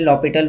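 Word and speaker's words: L'Hôpital: इसमें H silent रहता है इसलिए लॉपिटल रूल कहते हैं।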